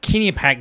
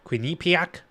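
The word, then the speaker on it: Quinnipiac: you look at uh Kinny pack University I I was reminded it's called quinac but that's a bit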